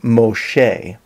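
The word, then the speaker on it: משה: interesting to me that the name Moses in Hebrew is pronounced Moshe and this is very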